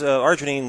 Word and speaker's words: arginine: memory and it contains a an item called Arginine did I pronounce that right yeah it's it's an amino